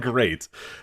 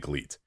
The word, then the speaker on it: GLEAT: glee thing or we're going to call it great what are we doing here i i want to make sure that we are it's spelled glee i think you're supposed to call it great but i think and i just want to